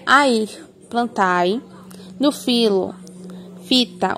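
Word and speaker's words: phyta: No filo, fita, o PH, a pronúncia é como se fosse o F. Então, na terminação do filo, será fita.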